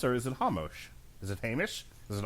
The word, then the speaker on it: Ramos: For the last time, in Portuguese, R's are pronounced like H's.